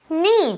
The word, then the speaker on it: knee: Knee 就是膝盖啦，那注